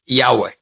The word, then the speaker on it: Yahweh: Can understand even how to pronounce it. Yeah. So let me use the commonest, like Yahweh.